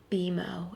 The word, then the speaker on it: Beo: from the nft set beo is how it's pronounced beo beo like like emo yeah but with a B beo like emo Gastly